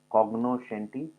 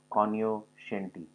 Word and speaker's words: cognoscenti: cognoscenti or kanyo shanti this word can be pronounced either ways cogno shanti or kanyo shanti so it means having